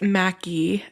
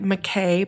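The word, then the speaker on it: Mackay: is super fun it's Mackie and it looks like McKay but it's pronounced macki and it's just the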